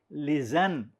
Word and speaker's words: listen: is silent come on listen l i s t e n t silent correct watch w a